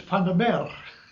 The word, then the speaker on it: Vander Meer: I said, "Vander Meer." That's how you say it in Dutch.